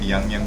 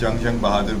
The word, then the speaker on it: Jung Bahadur: i mean i'm sorry i'm calling it yangyang because my initial instinct is to pronounce it young as khali young the philosopher but it's actually sorry about that so yeah prince jung jung bahadur grew taller and stronger